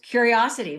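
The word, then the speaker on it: Curiocity: it's spelled c r IO City but it's pronounced curiosity very creative huh I love that now what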